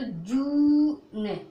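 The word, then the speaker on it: June: तो जा मैंने अभी देखो जा ये वाला है, तो जा अब क्या यू को क्या बोलोगी? ऊ करके, तो जू ने, ई नहीं पढ़ोगे लास्ट में। ओके, तो इसको पढ़ोगे जू ने।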